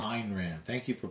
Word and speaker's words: Ayn Rand: That was Ayn Rand. Ayn Rand. Thank you for pronouncing it correctly.